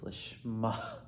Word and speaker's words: lishma: A regular hay just, but when there's a dot in the hay, it's lishma.